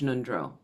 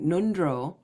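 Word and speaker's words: ngöndro: Nundro, I'm not pronouncing it that well. Nundro, it's in the back of the throat, are preliminary practices preliminary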